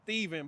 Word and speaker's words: Stefan: It's it's it's pronounced Stephen, but it's spelled Stefan.